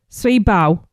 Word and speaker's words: Sui: Sweet is what you told me last time. Sweet, yeah. It's I have to say the full other dish. Sui Bao.